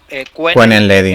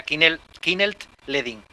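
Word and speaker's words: Kuehnelt-Leddihn: las ideas es Kinnel Ledin, que algunos lo pronuncian Quenel Ledin, Eric, sí. El Kinnel Ledin, que se pronuncia así. La pronunciación como más exacta sería Kinnelt Ledin.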